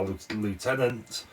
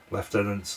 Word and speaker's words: lieutenant: is the pocker 3 a lieutenant left tenant Lieutenant whichever way you pronounce it and the stern guard